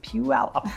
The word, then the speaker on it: Puyallup: And that is kind of fun to say if you've never said it before, so practice with me. Puyallup. That's how it's said.